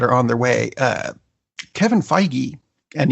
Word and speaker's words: Feige: on their way Kevin Feige and yes I am pronouncing it right because I called Marvel and I asked them made an announcement about